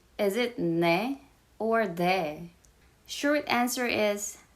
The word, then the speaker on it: 네: Is it ne or de? Short answer is ne. If you pronounce it as D sound, it sounds like T good for us, which is another letter.